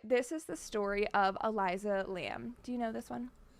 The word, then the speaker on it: Elisa Lam: I just want to let you know, I think you're pronouncing her name wrong. Am I? I think it's Elisa Lam.